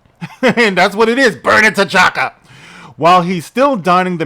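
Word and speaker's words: Birnin T'Chaka: in the city of Burnin' T'Chaka. Yeah, you heard right. The city is called Burnin' T'Chaka. Now, Burnin' is spelled Birnin.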